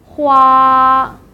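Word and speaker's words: 花: So in order to consolidate the pronunciation of the first tone, here are some vocabularies. The first vocabulary is flower. Hua, hua, hua.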